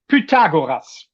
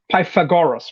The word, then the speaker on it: Pythagoras: I'll pronounce it how the Europeans would pronounce it. Pagoras. The Germans would pronounce it. You would probably say Py Pythagoras, right? Something like that. Uh, yeah, I would say like Pythagoras.